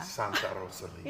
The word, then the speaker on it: Santa Rosalia: We do a live episode from, how do you pronounce it? Santa Rosalia. Santa Rosalia.